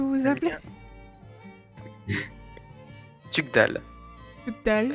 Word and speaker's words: Tugdual: Comment est-ce que vous vous Le appelez mien, Tugdal. Tugdal. Ça s'écrit Tugdual.